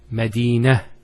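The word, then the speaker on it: مدينة: I actually pronounced the ta marbuta as a ha. Medina, Khadija. Now if I stop on the ta marbuta, it's actually pronounced as a ha in both cases.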